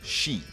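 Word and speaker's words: 四: this unlucky number four the number four in Japanese is pronounced Shi which is the exact same way you pronounce death if you ever go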